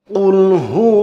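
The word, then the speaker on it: قل: তিনি আল্লাহ এক অদ্বিতীয় আর যদি কুল না বলে যদি বলেন কুল গলার ভিতরে না নিয়ে কুলহু আল্লাহু আহাদ তাহলে হবে খাও তিনি আল্লাহ এক অদ্বিতীয় নাউজুবিল্লাহ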